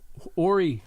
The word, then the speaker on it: Horry: The mayor of Aner was stopped by Horry County, Horry, I believe it's pronounced Horry, I'm sorry, Horry County